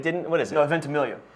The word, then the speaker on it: Ventimiglia: No, Ventimiglia. You just dropped the G and say it phonetically.